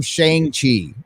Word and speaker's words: Shang-Chi: I think it's spelled Shang, but it's pronounced Shong.